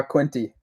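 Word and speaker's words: Quinte: style fishing back home did I say it right Bay of Quint uh quinty quinty yeah yes I used to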